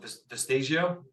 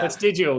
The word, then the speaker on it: Vestigial: I checked out Vestigio. Is that how you say it? Yep. Vestigio? Yeah. Vestigial.